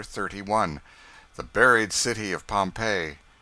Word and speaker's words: Pompeii: buried city of pompeii they pronounce it pompeii i always had an